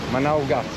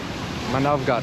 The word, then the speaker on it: Manavgat: Manavgat. Manavgat. Yes. Turkish pronunciations.